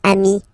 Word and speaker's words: amis: Plural form, you add this S, but it's ami as well.